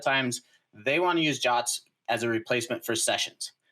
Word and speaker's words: JWT: So our next one is JWT authentication, and JWT stands for JSON Web Token, aka JOT. Right? It's actually in the spec that's how you pronounce it.